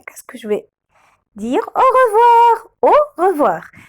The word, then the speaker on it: au revoir: Au revoir. Au revoir. Avec mon AU, on le prononce O. OI, on le prononce WA.